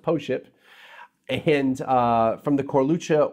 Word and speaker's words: Pošip: are all correct yes this wine is called po ship and it's POS IPA is pronounced po ship and from the core